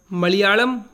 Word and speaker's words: मलयालम: इसका सही उच्चारण मलयालम होता है।